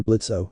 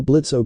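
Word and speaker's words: Blitzø: to do that here blitzo the O is silent the impen charge ranted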